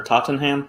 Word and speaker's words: Tottenham: Is it Tottenham or Tottenham? How do you pronounce that?